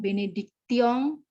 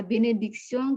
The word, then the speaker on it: bénédiction: Allah Subhanahu wa taala pour sa miséricorde, ses conseils et sa bénédiction, bukan bénédiction, et sa bénédiction qui m'ont été accordées, itu ada bunyi E, jadi bukan accord, tidak